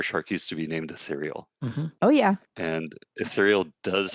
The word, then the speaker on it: Ethereal: ether like Ethernet and turn it into ether real. And that was how they would say it. And then of course those of us that knew how it was meant to be pronounced would say ethereal.